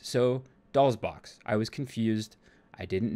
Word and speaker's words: DOLL$BOXX: my love bytes video someone said that you do pronounce the stylized s so doll's box i was confused i